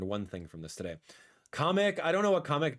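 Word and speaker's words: Kamek: So apparently my entire life I've been calling kamik the wrong name. It's pronounced comic uh with like a like a like a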